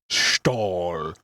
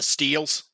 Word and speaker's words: Stihl: What, the Steels? Stahl. No, the Stahl. I believe it's spelled. You know them immediately because they're very distinctly orange. Orange and gray, yeah, Steel. Stihl, Steel. There you go.